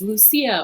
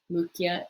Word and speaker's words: Lucia: lucia esthelia now uh remember that our c's in latin are always hard so you might want to pronounce this as lucia or lucia uh that's more italian in latin this is going to be lupgia is the daughter number